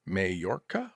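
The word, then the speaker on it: Mallorca: And, uh, MameM says, uh, Malorca is spelled or is pronounced Mayorca.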